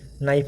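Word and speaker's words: knife: जैसे कि नो में के साइलेंट है, नाइफ में के साइलेंट है, नॉलेज में भी के साइलेंट होता है।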